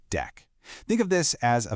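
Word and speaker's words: deque: First up is the DQ, which is short for double-ended Q, and it's usually pronounced deck.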